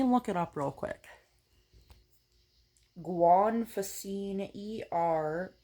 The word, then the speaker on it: Guanfacine: I'm prescribed 2 milligrams of extended release guafacine. Guafacine. Let me Google how to pronounce it.